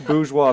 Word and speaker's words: bourgeois: I say bourgeois because there's an R in there.